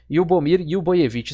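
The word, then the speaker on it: Ljubomir Ljubojević: Muito obrigado, Vitor Viola, um amigo meu, rapaz de cultura ímpar aí, e me ensinou a pronunciar corretamente o nome aí do jogador sérvio Lyubomir Lyuboyevich.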